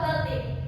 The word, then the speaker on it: Baltik: Bik. Nah, bisa bacanya ya. Ini yang benar adalah laut Baltik.